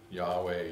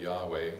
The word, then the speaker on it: Yahweh: Yahweh, Yahweh, we believe it's pronounced.